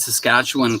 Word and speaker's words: Saskatchewan: But by the way, I'll give you kudos because you said Saskatchewan correctly, and not many people say it correctly.